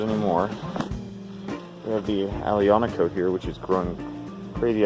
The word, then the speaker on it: Aglianico: We have the Aglianico here, which is growing crazy out of control. And yes, I've been pronouncing it wrong the whole time. The G is silent.